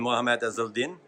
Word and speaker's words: Mohamed Ezeldin: Hi, I'm here again with Joe Farren and Mohamed Ezeldin, correct? Absolutely, well pronounced.